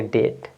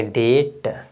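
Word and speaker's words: debt: क्या है अब यहां पे बी के बाद टी है बी के जस्ट बाद टी है तो आपका इसमें साइलेंट क्या हो जाएगा बी तो आप इसको पढ़ेंगे डेट क्या पढ़ेंगे डेट नेक्स्ट देखिए क्या है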